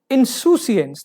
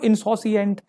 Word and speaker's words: insouciance: Insouciance, the as noun, the pronunciation is not insouciant, yeah, insouciance, insouciance.